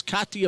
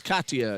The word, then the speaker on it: Katia: the entire first quarter I mispronounced Katia I did that a lot her name is ktia Bogan a sophomore from weaton Illinois she let me know last year when I mispronounced it is Kata and she makes her